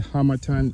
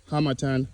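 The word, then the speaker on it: Harmattan: hemisphere there's what there's something called the hamatan winds hamatan hamatan choose your preferred pronunciation but it blows from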